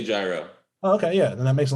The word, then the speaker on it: gyro: i'd probably do like greek food hero right that's how you say it hero there you go it's gyro you you would know um my bad no no no i mean andre would know i so it's gyro gyro yeah that's that's my